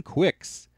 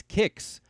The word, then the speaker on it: Qix: the classic arcade game quicks and yes I'm well aware that the actual pronunciation for this game is kicks butt kicks is a